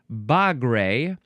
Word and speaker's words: bagre: So this is pronounced bagre or bagre, and the British actually looks the same. Bagre, bagre.